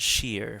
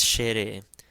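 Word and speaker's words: ϣⲉⲣⲉ: is Shere Shere again in Coptic we pronounce every syllable so this wouldn't be like English it's not sheer for instance it's Shere and Shere means hail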